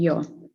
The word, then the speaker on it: yaw: Misalkan yowing, pitch, roll, and yaw. Udah tahu ya. Pitch itu ke depan, pitching, ini rolling, ini yawing. Pitch, roll, and yaw. Bukan yo ya, bukan yo, sama seperti ini.